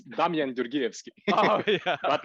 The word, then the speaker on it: Damjan Gjorgievski: His name is Damjan Gjorgievski. I'm not sure if I pronounce it Close right. enough. Close enough. It's Damjan Gjorgievski.